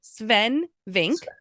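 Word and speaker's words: Swen Vincke: It's spelled Sven, but it's pronounced Sven Vink.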